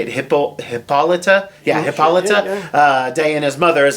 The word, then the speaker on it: Hippolyta: Yeah, Hippolyta.